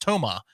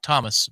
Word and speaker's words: Toma: So that's going to happen, and apparently his name is pronounced Toma, not Thomas Basong.